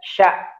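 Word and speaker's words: ش: Nah, kadangkala sya ini ya, kadangkala dan sering sekali terjadi sya ini hampir sama dengan sa atau hampir sama dengan so gitu ya. Padahal beda dari makhrajnya.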